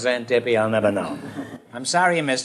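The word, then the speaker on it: Xanthippe: not porsche no it's xantipi and it's spelled x-a-n-g-i-p-p-e and why it's pronounced zen tippy i'll never know i'm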